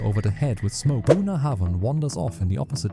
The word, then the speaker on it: Bunnahabhain: It's pronounced Bunnahabhain, and it's basically the quiet kid sitting at the back of the Islay classroom.